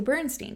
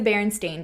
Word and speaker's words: Berenstain: And it's also not the Bernstein Bears. It's the Berenstain Bears. And it's spelled stain. Berenstain.